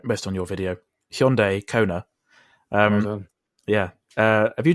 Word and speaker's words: Hyundai Kona: Let me just get this pronunciation right, based on your video. Hyundai Kona.